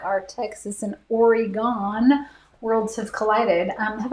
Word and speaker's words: Oregon: is i was like it's oregon oregon and not oregon it's oregon i don't think you